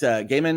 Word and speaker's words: Gaiman: how that goes uh it's pronounced gaiman it's how he says it fair enough ai is